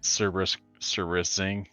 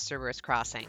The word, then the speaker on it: Cerberus Crossing: c-s-s-a-c-x but uh yeah cerberus servicing is what if i actually would say it out loud yeah in my head i always pronounce it service serious thing but i know it's cerberus crossing but in my head